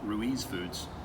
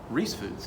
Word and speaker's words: Ruiz Foods: So, fun fact, I was today years old when I found out that it's not pronounced Ruiz Foods. Yeah, it's pronounced Reese Foods, and you And figured you that say out.